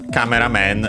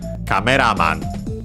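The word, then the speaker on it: カメラマン: Okay, in Japanese it's accented on the ra. It looks like it's treated as a compound. Well, technically it's a compound, also in English. And so the accent is on the last syllable of the first word, the first noun in this case, so on the ra, cameraman.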